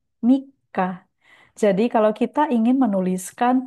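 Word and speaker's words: 三日: Oke, cara baca yang benar adalah Niseng, Nijugonen, Shigatsu, Mika.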